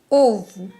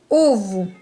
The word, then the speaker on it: ovo: O ovo. Alors le premier O est plus accentué que le second. O ovo.